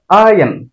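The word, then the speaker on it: iron: এটাকে আমরা উচ্চারণ করি আয়রন। আয়রন মানে লোহা অথবা কাপড় আয়রন করার মেশিন। এটার উচ্চারণ হবে আয়ন, আই এন, আয়ন।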